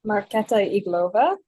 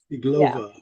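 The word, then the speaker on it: Iglová: Can you pronounce her last name for me? Marketa Iglova. Iglova, yeah.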